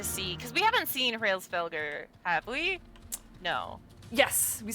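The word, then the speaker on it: Hraesvelgr: Hrosvegar.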